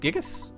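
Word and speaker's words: Giygas: the evil intentions of gigas that's how it's pronounced gigas where's it gigas these things are the utmost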